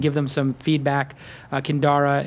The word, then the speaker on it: Kindara: them some feedback uh kandara it's spelled k i n d a r a kind Ara